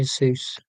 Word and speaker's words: Seuss: Zeus the Dr Seuss isn't it pronounced Dr so but people like me say Seuss wow what a legend